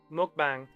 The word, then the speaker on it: mukbang: Mukbang. M-U-K-B-A-N-G. They get quite annoyed about it being mispronounced. It's muk.